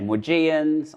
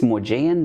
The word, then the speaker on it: Maugean: Um how do you say McGee skate? Some people say morgans, I say mian. I I think it's morgian, but I just can't stop saying the way I did.